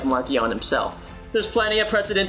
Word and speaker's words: Marchion: marcion during those conversations the version with the heart k went out in part because it just felt tougher and had more of an edge much like markian himself there's plenty of